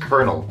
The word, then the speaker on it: colonel: why should the word spelled : L be pronounced Colonel like why is this a thing I cannot